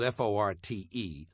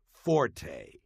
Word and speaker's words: fort: silence number one the English word Fort spelled f o r t and meaning specialty or strong point is not pronounced Forte got that it's pronounced Fort the Italian word